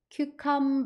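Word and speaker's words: cucumber: 그다음 ber B 같이 붙여 주시면 큐 com 큐컴 이렇게 발음해 주시면 돼요 큐 오이요 오이 수분 함량이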